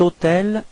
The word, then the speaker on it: hôtel: Keep in mind that even if hôtel is starting with H, H is actually not pronounced, so the first sound of the word is O, so it does mean